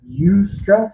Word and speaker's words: eustress: body we call it eustress spelled with an E and then stress different types of physical